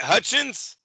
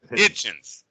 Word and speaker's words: Hitchins: Now, for, how do you say it? Hutchins? Or Hitchins? Hitchins.